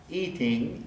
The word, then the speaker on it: eating: caught the word eating eating e is stressed the ing is unstressed so that would be a place where we pronounce the flat eating eating eating too